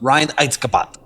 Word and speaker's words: Reinheitsgebot: Reinheitsgebot.